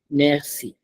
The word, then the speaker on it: merci: So what I was teaching you here is the C sound, which is pronounced as s and not k.